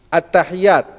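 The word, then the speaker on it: التحيات: 21 semuanya apa saja yang pertama attahiyat kata attahiyat di atas huruf dilafal attahiyat dan huruf di atas huruf ta dan huruf ya pada lafadz attahiyat kemudian di atas Huruf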